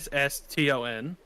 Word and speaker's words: Joston Tresia: He is Joston Tresia. So Yosston. And then Tracer, essentially. It's Tracer.